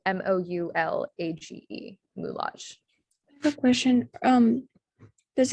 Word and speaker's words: moulage: okay one more french example this word is pronounced moulage and it's a mold or cast for use